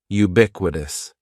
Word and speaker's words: ubiquitous: word is ubiquitous and ubiquitous has four syllables that first syllable is just like you're saying the letter U ubiquitous and the stress is going to be on that second syllable ubiquitous ubiquitous ubiquitous means existing or